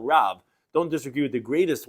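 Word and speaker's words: רב: in Shemais Chav Gimel, Loisana al Riv, which we pronounce Loisana al Rav.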